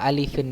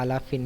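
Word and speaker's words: ألفٍ: Wa mimu intaskun taji qoblal hija la alifin, ya, la alifin, ya, bukan la alafin, ya, bukan la alfin, ya.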